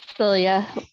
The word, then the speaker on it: Silja: Silja, did I pronounce that correctly? It's Celia, J's like a Y.